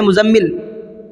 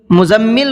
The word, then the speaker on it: مزمل: بھی ہوتے ہیں، تو ہم اس نام کو بھی کیسے لیتے ہیں، مزمل، مزمل بولتے ہیں، حالانکہ وہ غلط ہے۔ قرآن کریم میں بھی مزمل نہیں ہے، یہ لفظ قرآن کریم کا ہے مزمل.